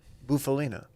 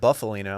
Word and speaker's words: Bufalina: Thank you for pronouncing it correctly, by the way. What? Bufalina. What? Some people call it Buffalina.